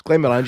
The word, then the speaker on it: Glenmorangie: It's Glenmorangie, you prick.